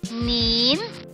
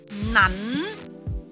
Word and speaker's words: 撚: 语读音，主流的学者认为正读是捻，同埋口语易读音捻，而小众的正音派就认为只可以读成捻。